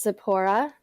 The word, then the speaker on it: Zipporah: yeah it's actually pronounced Zipporah sir emphasis is on the second syllable yep everybody calls me